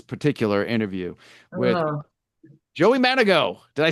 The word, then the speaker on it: Mandigo: Off air, Joey said something to the fact that even his own band members still mispronounce his last name. Sometimes they do. Yeah, yeah. They're like Mandigo. Ah, crap. No, I didn't say it. Yeah, happens all the time. Manigo, Manigo, Yeah, Manigo.